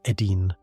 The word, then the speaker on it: Idin: The Sumerian name for this lush, irrigated, protective enclosure where the gods lived and the humans served was Idin, pronounced Edin, meaning the abode of the righteous ones.